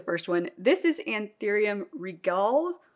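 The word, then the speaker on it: Anthurium regale: one this is anthurium Regal or Regale or I don't know how you know it's kind of like gala gala I'm sure there are many ways to pronounce this but I think it's regal and as you can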